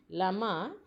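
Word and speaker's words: llama: बातें इस्तेमाल किया जाता लामा अ कि यह स्पेलिंग है बेटा इसको हम लामा पढेंगे लामा एंड ए खोल पाएं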